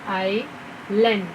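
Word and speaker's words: island: तो आपको उन्हें बताना है कि एस जो है वो साइलेंट है यहाँ पे, इसीलिए आई लैंड।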